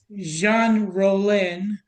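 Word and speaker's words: Jean Rollin: And so it's by uh Jean Rolen. I think I'm pronouncing that right.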